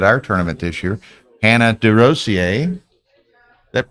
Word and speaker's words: DeRosier: in Texas at our tournament this year, Hannah DeRosier. That pronounced, I did it Yeah, pretty DeRosier. good. DeRosier, Yeah.